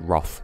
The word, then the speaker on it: wrath: At every juncture I've heard it pronounced wrath, but my mother pronounces it Roth, so...